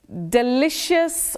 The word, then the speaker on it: delicious: about this particular one delicious or delicious but you say d then you say sh not she and not okay delicious no